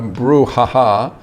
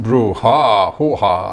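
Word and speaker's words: brouhaha: grue haha brewery so brew haha I think it's supposed to be pronounced brew ha ha ha like the the very famous movie hoo-ha so it's caliber craft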